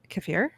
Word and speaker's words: kefir: It's definitely kefir. Kefir. Emphasis on the er.